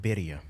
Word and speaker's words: birria: And how did you pronounce it? Birria. Birria. Birria. Roll your R's.